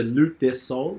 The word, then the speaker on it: Loup Des Saules: So Loup Des Saules. You don't pronounce the P.